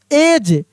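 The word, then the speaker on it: edge: यहां पे देखिए एज ई डी जी ई क्या पढ़ रहे हैं? एज यानी यहां पर भी डी साइलेंट है।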